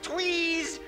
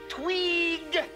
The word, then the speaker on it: Tweeg: Not Tweez, Tweeg. One lousy syllable and you still don't get it right.